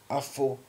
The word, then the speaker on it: Afuraka: But even with floods, as Kemet, they now call Egypt, the Garden of Eden, AfuRAka, or AfuRAka is the correct pronunciation, AfuRAka.